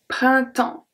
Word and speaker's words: printemps: Printemps. So here, I don't say printemps. I don't pronounce the P, I don't pronounce the S.